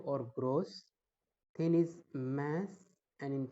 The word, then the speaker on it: grosse: In French, in masculine form, we pronounce it gros, GROS, gros. And in feminine form is gross, GROSSE.